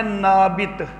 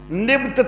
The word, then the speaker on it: نابت: تے ہوتا ہے، نابت۔ نام کا تلفظ جو ہے نابت بھی ملتا ہے، نبت توئیں کے ساتھ وہ بھی ملتا ہے، نبیت بھی ملتا ہے، اور نبایوت توئیں کے ساتھ وہ بھی ملتا ہے۔ نام کے مختلف تلفظ ملتے ہیں۔ یہ جو حضرت اسماعیل